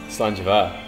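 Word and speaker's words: Slàinte mhath: Slanjava.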